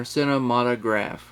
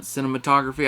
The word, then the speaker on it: cinematograph: but they do and the way you say this is just like it's spelled on here cinematograph yeah so if you're struggling with that one if you're another YouTuber and you're calling it cinematography I did to at